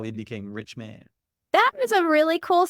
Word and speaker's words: Richman: It's Richman, Richman. Everybody thinks it's like Virginia. Nope. It's like, hey, what can we be when we grow up? I want to be a rich man.